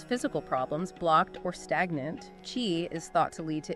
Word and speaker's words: qi: Qi? Yeah. It's pronounced qi, and it's often translated as life force or vital energy.